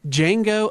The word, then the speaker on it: Django: upcoming movies this week Jango Unchained the D is silent now this is a